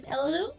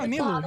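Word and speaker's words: Nilou: I believe my favorite of all time is Elalu. Is that how you pronounce her name? The dancer girl. The really, really pretty dancer girl. No, Nilu, yes.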